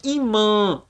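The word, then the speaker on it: ímã: Arnaldo Olha o tio ele não é um acento ele é somente uma marca de que você tem que pronunciar aquela letra com um tom nasal o som tem que vi pro Canal do nariz lá no fundinho então a gente fala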